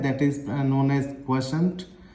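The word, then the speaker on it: quotient: अच्छा, इसके प्रोनाउंसिएशन में भी लोगों को अक्सर कंफ्यूजन रहती है। This is pronounced as क्वोशेंट। Clear है ना?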